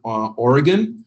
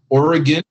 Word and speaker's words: Oregon: Oregon means that you know how to pronounce Oregon. Oregon means that you're from out of town. So Oregon, I had to learn that myself.